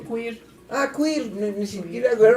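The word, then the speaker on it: queer: llegan lesbianas, sí nos llegan este homosexuales, pero gear o gear o cómo se pronuncia. Quir.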